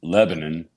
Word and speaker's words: Lebanon: outside Nashville and into a town called Lebanon which they pronounce Lebanon for some reason I think it's because they don't want to be associated with the Middle East I think that's I